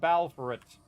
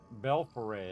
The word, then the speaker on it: Belforet: The title is The Order of the Swan and the Reclamation of Balforet. The Order of the Swan and the Reclamation of Belforet. Belforet, that's how you say it.